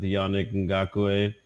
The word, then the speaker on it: Yannick Ngakoue: So, and their defense is pretty good with Yannick Ngakoue.